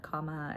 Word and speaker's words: Kama: So another thing I've said before, but like, my name Kama, comma, and the Sanskrit, that's the Sanskrit word and pronunciation, and it means love, and it also means desire.